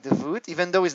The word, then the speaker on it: Davut: It's Davut. Davut.